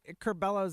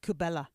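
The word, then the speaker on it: Curbelo: He didn't even have the decency to pronounce Curbello's name right. Called him Cubella. That's not his name.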